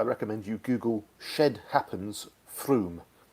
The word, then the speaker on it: Frome: anyone interested I recommend you google shed happens Froome spelt Frome but it's pronounced thank you and that gets you know